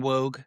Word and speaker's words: Woog: to the FTC, Dan Woog from 06880, the blog, he is my former high school soccer coach, and you can't remember, but it's Dan Woog, which is WOOG, rhymes with Vogue, and Dan I mean,